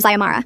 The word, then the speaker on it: Ziamara: We were discussing the constitutional convention when she called on me again, mispronouncing my name as Zara this time, not even close to any version of Ziamara.